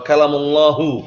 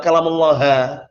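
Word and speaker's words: كَلَّمَ اللَّهُ: Antum bacanya pun jangan keliru juga. Kalau antum bacanya wa kalamullaha, itu sebagian lebih dakwah dalal, sebagian mereka mengubah tahrif setelah harokat, diubah harokatnya biar mengubah maknanya juga. Itu keliru. Di situ pelakunya, fa'ilnya adalah Allah Ta'ala.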